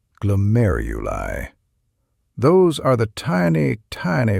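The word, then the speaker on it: glomeruli: That's pronounced glomeuli.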